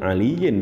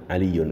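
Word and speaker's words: عليٌّ: maka dinamakan sebagai fail nggak boleh kita bilang alien bacanya atau alien Namun kita harus membaca aliyun Mengapa karena dalam Ihram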